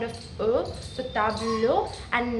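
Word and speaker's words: table: it is not because the French native speakers do not pronounce the last e. So it's it will be like tabl or sibl.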